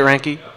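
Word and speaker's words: Reinke: Ranke. That's what I'm saying. Is that how you say it, Ranke?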